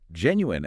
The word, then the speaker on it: genuine: Genuine actually comes from Latin roots, where the suffix was much softer. The wine pronunciation is often a hypercorrection by people who see the spelling and basically force the phonetics, overriding the historical pronunciation of the word.